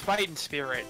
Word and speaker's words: Fightin' Spirit: It's Fightin Spirit. Very important not to add a G. G is silent.